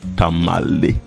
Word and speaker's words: Tamale: In fact they uh could not pronounce the name tama but they mispronounce it and that is how come that we have the name tamalei tamalei and interestingly that